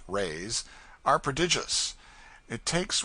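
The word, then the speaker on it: réis: lady hails from the portuguese pennies or reys pronounced rays are prodigious it takes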